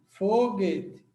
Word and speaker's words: foguete: Então, você tem esse GU e esse U é nulo, como eu já expliquei, ó. Não sai o som do U. O som desse U é nulo, ou seja, é mudo. A gente não chama de mudo. A gente chama de nulo, tá? O som do U não sai, então você tem